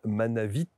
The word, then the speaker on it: Manavit: dans son index Daniel manavit n'oubliez pas de prononcer le T à la fin c'est important et si vous voulez